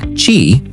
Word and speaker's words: Qi: Qi, pronounced Qi, is the most widely adopted wireless charging standard in the world today.